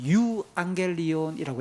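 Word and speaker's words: εὐαγγέλιον: 유겔리온 좋은 소식 이게 복음이란 단어를 그리스말로는 유안겔리온이라고 읽습니다.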